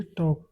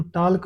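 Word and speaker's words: talk: करना की होती है टॉक, टी ए एल के। मैंने पहले ही बता दिया कि एल यहाँ पे साइलेंट है, तो टाल्क नहीं बोलते हैं, टॉक बोलते हैं इसको।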